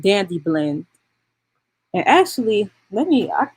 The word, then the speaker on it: Dandy Blend: the coffee uh substitute dandy blend is spelled d-a-n-d-y like candy but with a d and then it's just blend dandy blend and actually let me